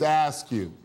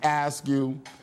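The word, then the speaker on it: AASCU: the acronym for the the way you pronounce the acronym for the group that Dr Howard is associate with it's ask you and so it's the American Association of state universities and colleges and it's ask you and so as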